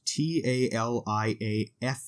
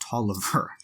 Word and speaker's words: Taliaferro: in this period lawrence toliver is the uh appointed by james madison president madison indian agent uh for the area um his name is spelt t-a-l-i-a-f-e-r-r-o but it is pronounced toliver so uh it's read